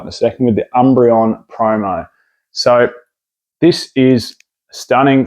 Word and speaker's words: Umbreon: say it right in a second with the Umbreon promo so this is stunning three pack blister